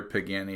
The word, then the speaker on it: Pagani: of course everyone knows it rhymes with your granny at nine you got it yep it's definitely another so what we have is another pagani design and this one